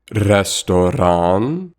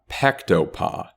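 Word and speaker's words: ресторан: That's right, restoran, not pektopa.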